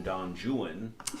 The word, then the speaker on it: Don Juan: Yeah, just like in the Byron poem Don Juan, Yeah. it rhymes with true one.